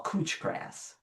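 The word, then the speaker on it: couch grass: Chand a quack grass, which the English call cooch grass spelled like couch.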